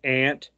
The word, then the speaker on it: aunt: guess from my upbringing I would pronounce it ant a-u-n-t but I have heard you know different uh ethnic groups called Aunt on overseas it said that way too like